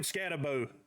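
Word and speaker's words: Skattebo: So shout out to Cam Scatabo. Boo. That's how the people pronounce it when I was watching his highlights.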